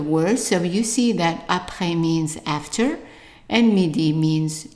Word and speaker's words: après: And the R, you can pronounce it as an R, which is like the gargling sound, R, or as an R. And that's actually how they pronounce it in many countries in Africa and also in some parts in the south of France. So if you say après, that's fine. The best one would be après.